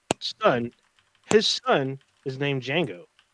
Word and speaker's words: Django: his son is named django with a d with the d is silent oh